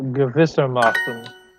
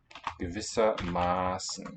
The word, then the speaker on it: Gewissermaßen: Because ma, this syllable has a long vowel, sz. Whereas with gewiss, short vowel is shown by double s.